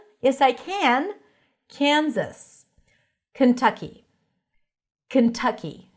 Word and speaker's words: Kentucky: Kentucky. Stresses on the second syllable. That's a cup sound. Kentucky. It's a bit more open than a schwa sound.